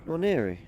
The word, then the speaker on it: Nwaneri: How do you pronounce that? Nwaneri.